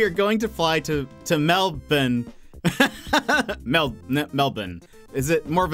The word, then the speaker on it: Melbourne: No, because a lot of Americans say Melbourne. But a lot of Aussies say Melbourne. Am I saying too much bin? Is there too much bin in there? Is it more of like a bun?